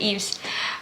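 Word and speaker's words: Yves: From November to March of 2018, Eves, Chu, Okay, so that's how you pronounce it, Eves.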